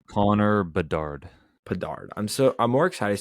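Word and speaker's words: Bedard: do you say his last name Connor Bard Bard I'm so I'm more excited to see Conor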